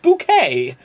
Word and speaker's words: Bucket: oh look just call me mr bucket it's pronounced bouquet right uh where are the neighbors uh hello